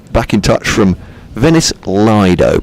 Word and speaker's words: Lido: Rob, thank you very much for getting back in touch from Venice Lido, pronounced Lido. Thank you very much. I've never known how to do it's Lido or Lido, so Lido.